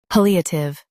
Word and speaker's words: palliative: pal e a tive palliative Stress pal and keep eative smooth.